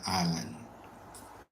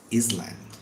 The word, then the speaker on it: island: been listed in this uh compilation is Alisma Island. Most of the people I've heard I what I've seen that most of the people even call it most of the people even call it Isl but it's pronounced as island.